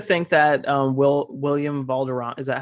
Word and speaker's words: Valderrama: i like to think that um will william valderron is that how i say his name william valderrama yeah yeah i like to think that he